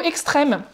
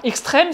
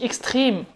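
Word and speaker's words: Extrem: Et ensuite, on a le Ubungo Extrême. Alors, extrême, c'est la prononciation française. Hein. En allemand, on dit extrême.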